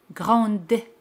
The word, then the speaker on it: grande: Pero si es femenino, se pronuncia D al añadir la letra E. Grande.